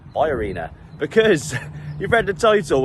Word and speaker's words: BayArena: to the B Arena I kept saying the Bay Arena in English that's how we'd say it but apparently it's pronounced by Arena because you've read the title we're here for